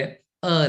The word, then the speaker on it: a: और कसोनेंट्स के पहले अ लगेगा। ध्यान दीजिएगा ए नहीं अ कुछ लोग ए कार ए मोबाइल ए बाइक बोलते हैं। वो गलत है। हमें कहना चाहिए अ bike अ कार अ mobile.